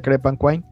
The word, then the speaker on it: Crepanquine: repito la ficha técnica el cómic se llama crepe and wine se escribe cree pan y luego le ponen kim pero se pronuncia crepe and wine la editorial es spaceman project los autores esgar